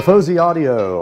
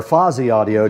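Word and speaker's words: Fosi Audio: The Fuzzy Audio, or Fozzy Audio, depending on how you like to pronounce it, is sitting right in front of me here.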